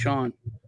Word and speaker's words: Sean: It's pronounced Sean.